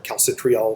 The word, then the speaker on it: calcitriol: This is called 1-hydroxylase, and it hydroxylates this molecule again to form what's called calcitriol or calcitriol, some people pronounce it, which is really just 1,25-dihydroxycholecalciferol.